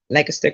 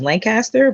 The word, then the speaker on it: Lancaster: another location back in Lancaster County, as most people pronounce it as Lancaster, but it's Lancaster County, Virginia, for Black History Month.